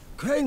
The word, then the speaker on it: Crane: Crane rhymes with train and brain and sane and grain and rain and plane and the other kind of plane and Can I come in?